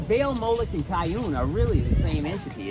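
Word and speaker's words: Kiun: Another word for Remphan is Kiyun. Oh, Kayun. Yeah. Oh, I know. Kayun. Yeah. Kayun. I spell it K-I-U-N. Kayun.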